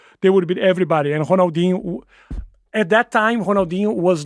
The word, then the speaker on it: Ronaldinho: And how do you pronounce it? Ronaldinho.